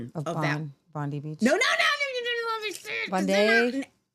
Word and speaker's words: Bondi: I have received 2 or 3 messages from people on the pronunciation of that. Bondi Beach. No. Bondi. Bundi.